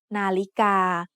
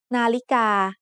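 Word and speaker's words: นาฬิกา: The tones in the word nalika are midtone, high tone, and midtone. Nalika.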